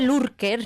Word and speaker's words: lurker: escribe lurker, ¿no? Lurker. Pero se pronuncia lurker.